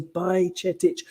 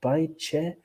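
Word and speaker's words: Bajčetić: The first C in Bajcetic has a little V on top, which is like Czech, where you pronounce it as a ch, like church. So it's Bajc, and then is like E, Bajcetic, Bajcetic, and I can't do the last one.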